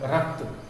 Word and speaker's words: रक्त: रक्त, रक्त। क कम देर हम बोल रहे रक्त, र पूरा बोल रहे हैं, त पूरा बोल रहे हैं, क का उच्चारण कम देर है।